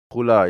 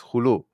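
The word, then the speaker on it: khula: It's not hula, it's hulu. Okay, pronounce it wrong. Okay, it's called hulu.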